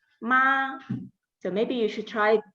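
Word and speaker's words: 妈: So this is the first tone, and we usually pronounce it as a ma.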